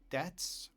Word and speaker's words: debts: Debts, the B is silent, pay attention, debts.